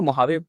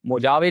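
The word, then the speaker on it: Mojave: तो मुहावे मोजावे नहीं बोलते इसको मुहावे बोलते हैं। ठीक है ना? The correct pronunciation is मुहावे।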